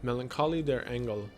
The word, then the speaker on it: Melancholie der Engel: Melancholie der Engel, which I took German class, yeah, that's how it's pronounced, which translates to The Melancholy of Angels,